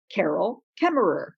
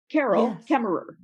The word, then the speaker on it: Carol Kaemmerer: my name and you would hear me say carol kemmerer carol kemmerer and that would be your cue that you would know how to pronounce my name when we meet yes and